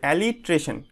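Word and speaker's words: alliteration: এইভাবে উচ্চারণ করবে, অ্যালিট্রেশন, বুঝতে পারলে?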